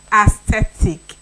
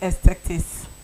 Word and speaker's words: aesthetics: It's not aesthetic. It's aesthetics. Yes, aesthetic. Aesthetics is the pronunciation. Aesthetics, not aesthetics.